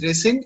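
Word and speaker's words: rescind: of signed this one yes sir it's called resend okay okay it's pronounced as resend and it means cancel or reject the same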